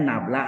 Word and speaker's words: nabla: Bacanya nablah atau del dot vektor A ya.